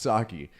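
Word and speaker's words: Saakhi: Oh, it's Oh, it says pronounced Saki.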